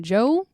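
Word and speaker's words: Djo: I've been listening to some Stacy Kent and some Joe, which is spelled DJ O, but it's just Joe cuz it's Joe Cury who plays Steve Harrington.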